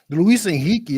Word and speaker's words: Luis Enrique: What is so Luis Enrique is how you say it. I'm not understanding what's so funny about that. No. I'm. It's just. Because we always hear it as Enrique.